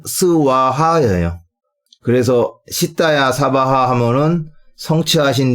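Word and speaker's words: स्वाहा: 사바하 등등 있 이때 여기서이 바하가 산스크리트 원 발음으로는 스와하 그래서 시야 사바하 하모는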